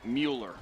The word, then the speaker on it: Mueller: Wednesday at noon uh Brunson Mueller is the pronunciation of the kicker's last name for rock wall Heath thank you Mark